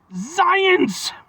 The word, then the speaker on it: Xyience: It's got an X and a Y. It's Xyience, and they even show you how to pronounce it phonetically with the Z in there.